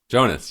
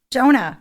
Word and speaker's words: Jonah: Jonas, yeah. My name is Jonas. Oh, my God. Jonah. It's Jonah. It's Jonah. My name is Jonah. I think we've been saying it wrong the entire time.